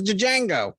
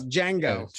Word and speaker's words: Django: Django. Yeah, Django. Yeah, that made sense. As the unfortunate, D is silent.